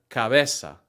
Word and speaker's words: cabeza: For the hard C sound, like in the word cabeza, the C sounds like a K if it comes before an A, O, U, or consonant.